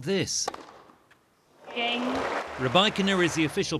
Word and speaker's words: Rybakina: Rybakina is the official pronunciation.